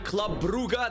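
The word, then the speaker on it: Club Brugge: it is the Greek side pal taking on Club buuga that's how you say it I looked it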